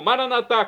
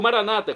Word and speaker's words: Maranatá: E agora eu clamo, Maranatá, como dizemos nós católicos, ou Maranata, como dizem nossos irmãos separados, os evangélicos ou protestantes, não importa a pronúncia, o significado é o mesmo.